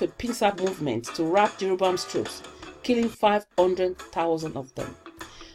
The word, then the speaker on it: Jeroboam: So the letter J was actually letter Y. So if you look at how the Hebrew people would write and actually pronounce Jeroboam, is Yarabam.